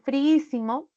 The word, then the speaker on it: friísimo: mismo pasa con friísimo en friísimo se encontró la i con otra I ambas son vocales cerradas pero son iguales la regla dice que cuando hay dos vocales iguales cerradas iguales deben de formar sílabas diferentes por eso que la i se separó PR simo y es esta la i la que tiene la sílaba tónica por eso lleva ti no también podemos